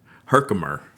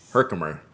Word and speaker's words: Herkimer: So, tell me the pronunciation of this again. I can look at it. Herkimer. Herkimer.